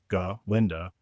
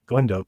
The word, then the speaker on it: Galinda: Galinda, not Glenda. Please pronounce it correctly.